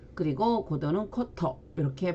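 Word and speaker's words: 古都: 그럼 일본어 발음은 자, 코로 발음한다 그랬으니까 고고학은 코코가크, 그리고 고도는 코토 이렇게 발음이 됩니다.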